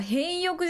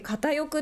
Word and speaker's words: 片翼: だよなあー変欲じゃなくて片翼って読むんだ偏欲の塩浴